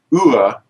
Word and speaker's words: YAHUAH: mysterious letter of all, is the Yah-U-ah, which they've been calling a YAHUAH. A wah, you know, like YAHUAH. That's a trombone, by the way. Yeah. Yeah. Wah, Sort of wah, wah, wah. Yeah. Well, this is a Yah-U-ah because it operates in almost all cases as a U or an O.